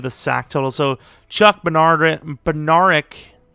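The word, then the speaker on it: Bednarik: So Chuck Benaric. His name is like Benardrick, I'm pretty sure. It's pronounced weirdly.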